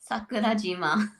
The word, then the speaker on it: Sakurajima: I'm gonna say I'm gonna defer to Annika on this pronunciation, please. Go right ahead. Sakurajima. That was close. I was really close.